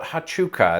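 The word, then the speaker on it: Huachuca: like in saurita so if things are consistent that first u is redundant so i think it's pronounced fort hatchuka and if it isn't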